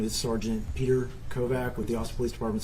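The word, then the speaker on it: Petr Kovach: Sergeant kette good afternoon my name is Sergeant Peter kovak with the a police department's homicide side unit um my name is spelled p e t r k oov a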